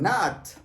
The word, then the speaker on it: not: Esta pronunciación es not. Casi como llegando a la A.